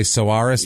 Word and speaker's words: Soares: I'm sure you can say Soares maybe, but it's Soares.